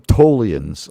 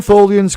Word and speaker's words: Tlians: or, you know, um, as we call them, Tlians. Uh, I call them Tlians. Uh, that's how they prefer to have it pronounced. And uh you know I I don't want to disrespect the th the tools but if you want to call them tholians go ahead.